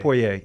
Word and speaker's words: Poirier: Is it Poirier or Poirier? Poirier. Okay. That's Poirier.